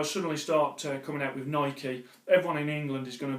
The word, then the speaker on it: Nike: I'll carry on and did have some feedback about the pronunciation of Naik and I take on board that it should be should be said as Nike in America I think they call them Nike everyone calls in America